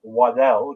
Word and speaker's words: Waddle: have you seen Dylan waddle Dylan waddle yeah as his sisters like to pronounce Waddell because that's actually how you pronounce it the reason he did